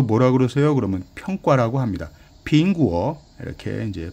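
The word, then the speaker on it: 苹果: 빙구어 이렇게 이제 발음할 수 있고요.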